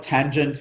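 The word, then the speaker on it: tanh: it in the name so the hyperbolic tangent we have it's affectionately called tange hyperbolic cosine is called kosh hyperbolic sine is called cinch right so if you're talking about them that's how you would usually say them for the other ones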